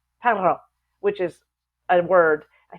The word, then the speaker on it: perro: But in Spanish, it'd be perro, perro, which is a word.